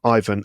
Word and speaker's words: Ivan: But I think the original name is Ivan. But you can do it Ivan if that's more comfortable. Ivan is definitely the way that the name is pronounced in the UK.